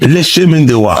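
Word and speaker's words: Le Chemin du Roi: Speaking of, how the hell you pronounce Lechem? Le Chemin de Roi.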